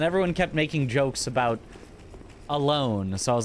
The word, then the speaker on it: Alonne: Alonne Don would actually be a different It'd be odd on. It would be the same sound for both of them. So I guess they pronounce it alone. At least that'd be the closest English pronunciation.